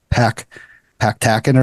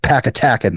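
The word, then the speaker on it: Pepacton: was I said I forgot what I said pack pack tacken or something like that George tacky or something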